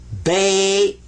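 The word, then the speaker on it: بيت: Not always, but in this case, this one gets ba. This gets a sukoon. What's a sukoon? Sukoon means don't pronounce it, but give it some value anyway. This is bait. Bait, house. Bait, house.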